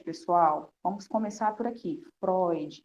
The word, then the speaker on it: Freud: vamos começar por aqui Freud não é Freud Tá bom vamos trabalhando a pronúncia Freud Sigmund Freud nascido